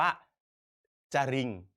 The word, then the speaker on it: จริง: ไม่ ได้ อ่าน ว่า จริิง ถูก ไหม ครับ เรา ไม่ อ่าน ออก เสียง รอ เรือ แต่ เรา จะ อ่าน ออก เสียง ว่า จริง อ่าน ออก เสียง พยัญชนะ